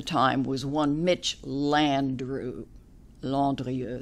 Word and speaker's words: Landrieu: Landrieu, they pronounce it Landrieu.